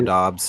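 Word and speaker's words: Doubs: it is it is it is it uh dos Romeo dos yeah Romeo dos um yeah I think you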